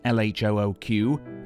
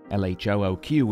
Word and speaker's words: LHOOQ: Duchamp made several versions of LHOOQ, letters which, when pronounced in French, sound like a phrase meaning she has a hot bottom.